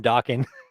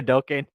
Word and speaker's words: Dokken: That's David's theme song is Dream Warriors from Dawkin or Dokken. I think that's how you say it, Dokken.